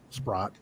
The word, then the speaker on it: Spratt: Renee asked the entity, she goes, we have permission from Alexis Spratt, because now it's pronounced Spratt. Back then it was Sprott.